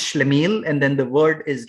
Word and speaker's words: schlemiel: is a character type um it is called schlemiel okay it's it's pronounced shlamiel and then the word is written on your